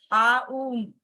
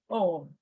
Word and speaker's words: Om: It is a combination of, it is a total of 3 syllables, A, U, and Ma. Some people say it as Aum, Aum. They say that. Some people say Om.